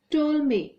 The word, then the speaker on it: Ptolemy: is very old Claudius Ptolemy makes your students you pronounce this word as told me here P will be Sal he was the famous